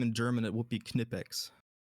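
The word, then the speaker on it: Knipex: Uh if you if you pronounce their name in German, it would be Kipex.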